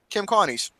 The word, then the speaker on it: Kim Carnes: Kim Carnes.